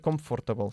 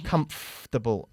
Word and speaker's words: comfortable: Muy bien, pero no se dice comfortable, sino comfortable. Casi omitimos el sonido de OR en medio.